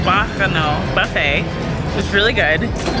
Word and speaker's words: Bacchanal: We just finished at the Bacchanal. That's how it's pronounced. Bacchanal Buffet.